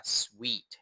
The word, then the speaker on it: suite: ยอด มาก ๆ เลย อีก รอบ นะ มัน อ่าน ว่า sweet นะ ครับ ไม่ ใช่ ห้อง สูตร นะ มัน คือ sweet นั่น เอง ครับ ส่วน คำ ๆ นี้